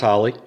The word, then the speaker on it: Holy: spelled like holy hol Y but pronounced Holley it's of Czechoslovakian heritage my dad was born